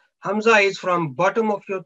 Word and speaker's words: hamza: or hamza with kunsan this samsa should be pronounced with the soft jack from the bottom of throat because hamza is always pronounced from the bottom of throat and a special care should be taken to avoid hamza sarkin sound pronounced as a letter iron and because iron and hamza are very near to each other hamza is from bottom